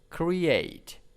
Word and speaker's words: create: one create create create stress is in the second syllables create okay so is kind